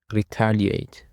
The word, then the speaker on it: retaliate: For the first word we have retaliate. Retaliate. The stress is on the second syllable.